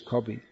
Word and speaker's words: Kavi: Bengali pronunciation is Kavi.